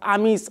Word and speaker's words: James: extensively about the man whose name is spelt james boy is pronounced amis rodriguez he speaks a